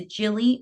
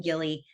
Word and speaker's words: Gilly: she came to be so people always say is a Jilly or is it Gilly because people pronounce it different ways and in my mind she's always been Gilly like this girl in